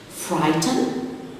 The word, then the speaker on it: frighten: Frighten, the silent letter is the GH before the T.